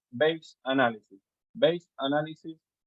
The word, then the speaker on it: Bayes: take what is called base analysis base analysis in Spanish base is pronounced bashes b-a-y-e-s based analysis the